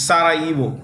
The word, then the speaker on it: Sarajevo: Okay, is Sarajevo. The J in this word is silent. It's Sarajevo.